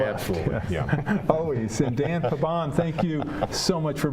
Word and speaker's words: Pabon: Now, and you pronounce it's Pabon, right? Pabon.